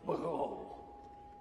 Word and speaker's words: Baal: They pronounced it Baal.